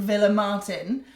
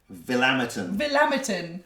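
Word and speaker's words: Villamartín: Just to kind of reiterate, whether you were reading it out in an English accent or a Spanish accent, it's spelt Villa Martin. So Villa Martin or whatever, but Villa Martin. Get any of those would be okay, acceptable. And she called it... Villammerton. Which is not acceptable.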